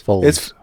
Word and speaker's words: Follies: Pronounce it Follies. We say it Follies. Follies. Spell it. Yeah, Follies. Spell it But you say Follies. Follies. It's not a capital O sound. It's Follies. an ah sound. Follies. It's Follies. Follies. Oh, Follies. It's wide like an open A.